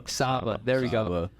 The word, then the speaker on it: Saba: I don't know if I'm pronouncing that name wrong. Saba.